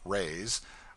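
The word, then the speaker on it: réis: from the Portuguese pennies or Rays pronounced rays are prodigious it takes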